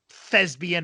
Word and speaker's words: thespian: Thespian. Yes, a P, not a B.